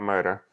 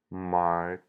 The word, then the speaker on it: martyr: Anyway, martyr. Nope, not murder. Okay, god damn it. Okay. Martyr.